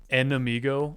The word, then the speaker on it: enemigo: Enemigo? It's just amigo with N in the front of it.